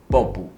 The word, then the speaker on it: ボブ: bob，其实你去日本剪头